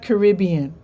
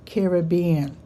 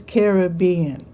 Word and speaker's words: Caribbean: But anyway, it's not Caribbean. She says it's pronounced Caribbean because I think the original people living on the islands were, I think, Carib. I think they were called Carib or something like that.